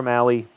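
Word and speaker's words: Mahle: now facing off against Tyler Mal mail I can never remember how to pronounce it Tyler Mali Tyler Mali is that right Mali why is that a hard E I don't know but we'll trust the announcer Tyler Mali he's going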